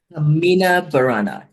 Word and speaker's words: Carmina Burana: So just excuse my pronunciation, and we'll see if I'm pronouncing it correctly. Carmina Burana, is that correct? Carmina Burana, yes.